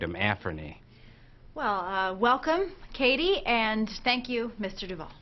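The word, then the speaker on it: Cady: Michigan her name is caddy caddy Herron where are you Katie that's me it's pronounced like Katie my apologies I have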